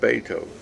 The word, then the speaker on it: Beethoven: to pronounce it and she said no it's pronounced Beethoven so I mean I remember that to this